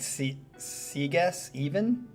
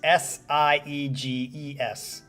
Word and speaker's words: Sieges: It looks like seess. Is it a hard gy or a It's sie ees.